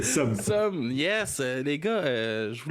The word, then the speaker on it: Seum: votre noms bien prononcé tu l'as très bien prononcé som yes les gars je vous laisse vous introduire